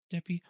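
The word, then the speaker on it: Dippé: How do you pronounce his last name? DP. It's D I P E Dep.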